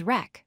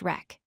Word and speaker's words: wreck: The fourth word is wreck, pronounced wreck. In each of these words, the w is silent, and we only hear the R sound followed by the other letters.